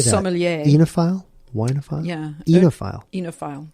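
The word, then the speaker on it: oenophile: Enophile. Enophile. Eno. Because it's kind of like vino. That's how I remember it.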